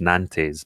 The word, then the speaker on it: Nantes: It spells in English Nantes, but it's pronounced Nantes.